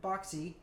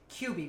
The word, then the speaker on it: Qbby: Basically, take control of a character named Boxy. Boxy. No, I said it wrong. It's QB, which is QBBY.